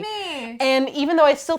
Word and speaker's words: Udemy: And then we get our wonderful Udemy or Udemy. I'm actually really not sure how it's pronounced.